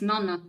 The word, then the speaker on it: Nonna: It has 2 N. It's Nonna.